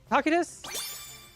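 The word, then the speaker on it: Cocytus: Tacitus?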